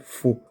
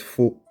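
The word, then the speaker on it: phở: nouille de riz appelé faux. Attention à la prononciation. La plupart des gens disent faux. Ben c'est ce que j'ai dit mais ils ont tout faux. Ça se prononce fa comme la note.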